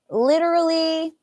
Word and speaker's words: literally: Jael Sala um literally this T here could be a t sound or it could be a little bit like a D sound like literally like literally actually I probably would turn that into a d when I'm talking literally uh I'm going